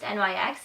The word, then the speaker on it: NYX: It is not pronounced NYX, it is NYX.